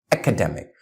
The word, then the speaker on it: academic: Academy it's academic Academy academic so we have less stress on the second syllable in academic academic and that make the